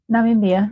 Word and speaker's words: Namibia: Namibia, yeah.